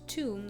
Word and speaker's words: Thumb: Oh, pronounced tomb, this flower is sometimes associated with death.